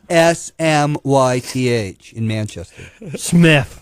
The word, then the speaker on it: Smythe: i am the warrior that's an english way of saying it uh they're shooting at